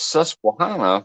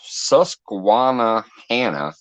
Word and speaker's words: Susquehanna: again i added extra i added extra syllable in there every time i know it's susquehanna but i always say it's susquana hannah i don't know why